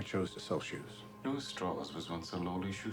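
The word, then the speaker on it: Strauss: say this is just visually an onslaught Admiral straws I'm interested in your relationship with Dr J I thought it was you met him in 1947 Dr Rob an honor Mr straw it's pronounced straw straw I've told he's there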